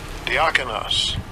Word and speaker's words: Diakonos: Diakonos.